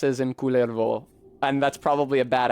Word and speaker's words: Kullervo: But, I put the accent on the first so that he's distinguished from Kalervo, who is his father, right?